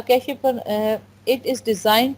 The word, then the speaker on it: cache: next हमारा topic है कैश memory इसको कैश भी प्रोनाउंस करते हैं कैश भी प्रोनाउंस करते